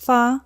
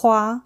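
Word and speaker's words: 花: Mulan's family name in Cantonese is pronounced Fa. In Mandarin, it's Hua.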